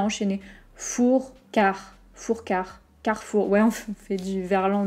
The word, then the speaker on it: Carrefour: mais c'est pas grave carrefour car fou ok car comme un quart et four comme un four magique mais je sais car le r est pas très fort fou carrefour je vais faire mes